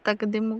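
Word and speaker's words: تقديم: अरे तकदिम तकदीमु इसको इसको प्रोनाउंस कैसे बोलते हैं तकदिम को तकदिम तकदिम ओके बाद जालिक तक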